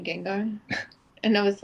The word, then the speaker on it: Gengar: think of anybody else I say Gengar I said that for a while and I didn't actually realize I was saying it wrong until Vince is like Oh you mean Gengar and I was like